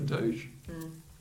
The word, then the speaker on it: doge: Is it Doge? It's Doge. I don't like Doji.